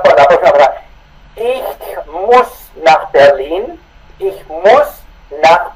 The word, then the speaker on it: muss: Cuando se dice a mí me toca, yo debo ir a Berlín, no se dice muss, como si fuera con SSH, sino solamente doble S. Escucha la pronunciación de nuevo. Ich muss.